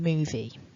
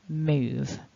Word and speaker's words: move: a voiced consonant and we're not pronouncing that e at the end so i'm not saying movie it's just move and because of that